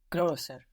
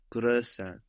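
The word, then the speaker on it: größer: has two points grosser so to find the pronunciation of that o with two dots on it the o with the umot where do you look back to to be sure bird bird and there you're short you have the right pronunciation there with bird so we got to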